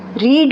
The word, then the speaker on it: read: नॉट रेड, रीड, रेड, रेड spellings एक ही होते हैं, ये हमें सेंस देखनी पड़ती है कि कहाँ पर फर्स्ट फॉर्म लगनी है, कहाँ पर।